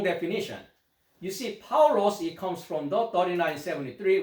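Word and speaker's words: Παῦλος: He is the Paul, which is a Greek pronunciation is Paulos, right?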